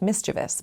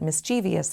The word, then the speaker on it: mischievous: Nothing rhymes with mis-chə-vəs but mis-ˈchē-vē-əs has devious and previous to make it sound correct.